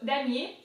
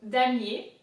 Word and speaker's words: damier: So damier, it's really easy. There's the first syllable, da, right? Da. Then for mier, I-E-R in French is ye, right? The M is pronounced normally. So damier, I-E-R, ye, damier.